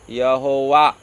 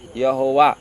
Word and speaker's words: यहोवा: और ये मैं हूँ जो है, उसको इब्री भाषा में अगर हम उसका उच्चारण करेगा तो उसको यहोवा बोलते हैं। क्या बोलते हैं उसको? यहोवा।